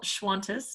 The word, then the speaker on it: Schwantes: Known as a diamond surgeon, Schwantes. Is that how you say it? Yep, just like Qantas, but with an SCH sound. A very good Aussie. Schwantes, not Qantas, is an